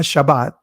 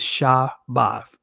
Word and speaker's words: Shabbat: it Shah bath because that is the ancient pronunciation of this word again not shab not Shabbat well not Sabbath is shabath all right but anyway